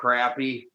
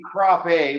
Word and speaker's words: crappie: Oh, Crappie. Well, Yeah. it would be Crappie, but I'm not gonna go Crappie because I'm not French.